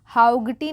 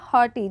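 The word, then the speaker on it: haughty: night was हॉटी हॉटी हाउ गटी नहीं जी एच जो है यह साइलेंट हो जाएगा हॉटी जी एच वाले बहुत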